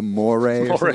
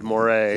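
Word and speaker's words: Moret: But it's spelled like M-O-R-E-T. It's so probably like Claude Moray. Yeah. Like Claude Monet.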